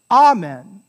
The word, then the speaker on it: amen: the word is pronounced amen amen right and the stress is on the ah right not the men amen so the word